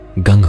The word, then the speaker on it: गं: वर्ण में गण शब्द के प्रथम अक्षर ग का उच्चारण और अ के प्रथम अक्षर का उच्चारण करने का अर्थ है ग के साथ अ का उच्चारण करना। इसके अतिरिक्त निम्नलिखित का अनुनासिक उच्चारण गंग होगा।